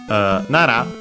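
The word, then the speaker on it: なら: After this, we actually have, though, Nara. We've seen it with verbs as one of the forms of the conditional. If, or better, in case. Technically, Nara is accented on the first syllable, is the conditional form of the classical copular Nari.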